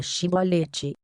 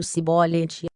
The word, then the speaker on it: Shibolete: Todos que quisessem passar por ali tinham de pronunciar a palavra Shibolete. Quem pronunciasse a palavra de forma errada, no caso Sibolete, era preso, consequentemente, morto.